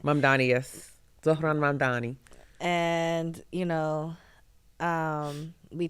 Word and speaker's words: Mamdani: Mamdani, yes, Zohran Mamdani.